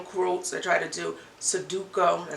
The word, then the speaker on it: Sudoku: I try to do Sudoku.